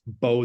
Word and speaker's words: Beau: know my name is Beau I'm uh it's pronounced bow the b-e-a-u uh just like Bo and uh yeah I've